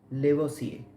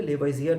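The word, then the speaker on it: Lavoisier: रहे हैं, Antonio L लेवोसिए। पढ़ते वक्त आप इसको लेवोसिए पढ़ेंगे, वैसे अगर स्पेलिंग वाइज देखा जाए तो लेवोइजियर नजर आएगा।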